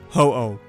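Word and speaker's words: 鳳凰: a doubt based on the Japanese Phoenix pronounced in Japan as hoo now CET and watchog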